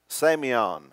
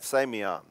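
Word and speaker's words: σημεῖον: word for sign in the new testament is pronounced sameon everybody say that sameon okay that's the greek word for sign now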